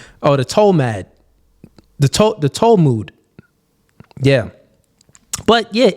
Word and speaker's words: Talmud: I still said it wrong. Talmud. Oh, Cooley. Tall mid. Let me see. Tall mid is what it read as. Talmud. Oh, Talmud. Okay, Talmud.